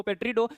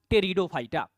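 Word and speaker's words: Pteridophyta: देखिए स्पेलिंग में पेट्रिडो लिखा हुआ रहेगा। बहुत लोग लिखते हैं इसको पेट्रिडो। लेकिन इसका प्रोनंसिएशन बोले अगर तो करेक्टली क्या होता है आपका? टेरिडोफाइटा।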